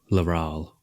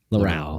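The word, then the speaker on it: Laral: talking to his friend uh leryl is that how you say it all around how do you how do you say it oh laurale Laurel okay yeah so Laurel is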